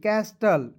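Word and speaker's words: castle: B thumb C ए एस टी एल ई कैस्टल एस यू बी टी एल ई सर्टल सबटल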